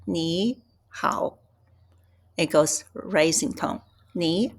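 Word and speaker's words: nǐ hǎo: So, normally, when we have a two third tones, and you change the pronunciation the first one to second tone. So, it's ni hao.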